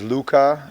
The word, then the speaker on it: Luka: So my first name is Luca and my last name is.